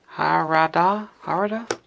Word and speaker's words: Harada: Harada? No idea how you pronounce that. H-A-R-A-D-A. That's all right. A lot of people mispronounce it, but it sounds just the way it's spelled.